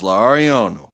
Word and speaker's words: Lauriano: I will never be able to pronounce it the way he pronounces, but it was Lauriano. It was like L'Oriano. Wow. Lariano, Lariano, and he would never let us get away with saying his name wrong.